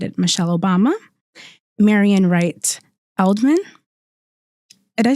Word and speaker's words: Edelman: Michelle Obama, Marian Wright Edelman. Did I say it right? Edelman, and Oprah Winfrey.